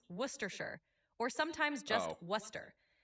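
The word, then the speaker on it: Worcestershire: It's typically pronounced worershir or sometimes just worcester. The shire part is often shortened so you can say worcester sauce and you'll be good.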